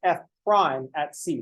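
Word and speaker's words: f′(c): of f of C it's F Prime at C that's how we pronounce that symbol so we say F Prime at C I will probably start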